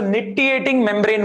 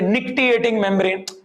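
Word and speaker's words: nictitating membrane: Actually the C is silent. So nitiating membrane. We say some people say nictiating membrane.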